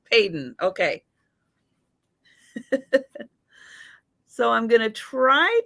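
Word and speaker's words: Paden City: probably mid 1930s uh padon is p a d en glass I think it's pronounced Peyton peyon could be Peyton but I'm not I'm not sure I'm a West coaster so every and I'm just thinking I know it sounds really familiar but I think that's how I've heard it pronounced but don't SAR by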